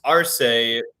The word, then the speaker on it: Arce: There was Arse who was polarizing. Am I pronouncing his name right by the way? Arce. Yeah. Yeah, you are.